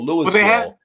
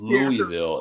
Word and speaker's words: Louisville: tell Shantae it's yeah, Louisville. It's not right. Louisville." You know. There's no S in it at all.